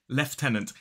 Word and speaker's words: lieutenant: of Hollywood but technically in a modern British RP accent this word is leftenant and by the way